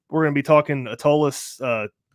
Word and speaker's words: Atollas: going to be talking atolus uh did i pronounce that right atollas um yeah you did great oh awesome i